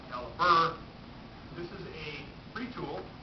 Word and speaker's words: calibre: Spelled calibre, pronounced caliber.